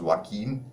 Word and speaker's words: Joaquin: san joaquin valley it's written j-o-a-q-i-n but it's pronounced joaquin that's how you should pronounce it even the actor who played joker his name is joaquin phoenix that's how you pronounce it so san